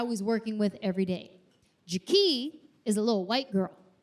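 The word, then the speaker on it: Jakee': Not Jackie, Jackie. It's spelled J-A-K-E-E'. Extra. You guys, the apostrophe in her name does not do anything.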